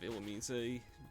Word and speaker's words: Illumise: And yes, I am calling it that because that's what it's pronounced like in the anime, so... Yes, I do apparently have Illumise.